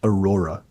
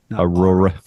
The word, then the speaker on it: Aurora: No, her name is pronounced Aurora. Aurora.